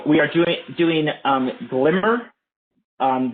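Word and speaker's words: glmer: are doing doing um glimmer um this is usually pronounced glimmer glm er generalized linear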